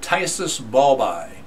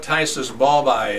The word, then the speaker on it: phthisis bulbi: who came in uh with a disease called tyus BBY okay it's pretty pretty weird name uh so it's spelled p h t h i s i